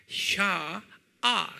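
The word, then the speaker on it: שעה: 샤아. 그래요. 샤아. A-H, 샤, A를 두 개를 찍으세요. 샤아, 그래요. 한번 발음해 볼까요?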